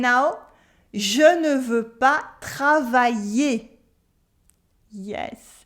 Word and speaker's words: travailler: So in travailler, to work, we have the y sound in the middle, travailler, and at the end an E sound with ER, so the R is silent, it is an E sound now.